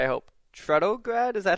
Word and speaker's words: Trudograd: into So, as we're talking I want to pronounce this correctly, I hope. Trtograd. Is that how I would say it? Trudto.